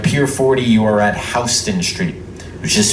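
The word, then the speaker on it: Houston: So at Pier 40 you are at Hston Street which is spelled just like the big city in Texas but in New York definitely pronounced Hston.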